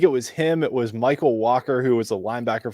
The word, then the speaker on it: Mycole: By the way, does he say Michael or does he actually say Michael? It's Michael. That's what I thought. It's Michael, and it's spelled Mycole.